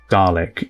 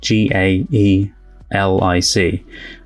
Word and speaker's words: Gaelic: the other day but apparently the Scottish gaic is garlic is how it's said still spelled the same way g a e l i c uh and the Irish one is Gaelic so I know it is gaic but because this is